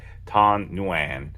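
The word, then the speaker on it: Thanh Nguyen: Vietnam uh every other guy is named this tan nuan which is how you pronounce it too I looked it up a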